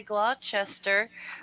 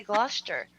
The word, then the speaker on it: Gloucester: many other languages so say Claude Chester but you're supposed to say Gloucester they leave out letters